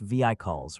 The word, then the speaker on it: vehicles: She said brightly when he had finished reading, "It's pronounced vehicles, Richard, no H accent on the first syllable, and you don't say travels slow or see good.